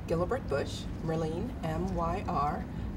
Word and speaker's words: Gelibert: to do is to say your name and spell it and say your title and then what company works right it's Merlin Gilbert Busch Merlin my are L e and E